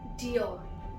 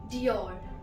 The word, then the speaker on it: Dior: The next word is Dior. Dior. This is also from France. Next one is from Italy and it is pronounced as Versace.